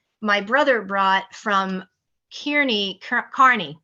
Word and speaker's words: Kearney: of our flight my brother brought from Kearney Carney Carney it's pronounced Kearney Nebraska from Thunderhead it's the farmageddon spiced pumpkin